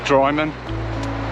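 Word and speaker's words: Drymen: So 12 miles in, and I'm just walking into the town of Dryman, that's how you say it.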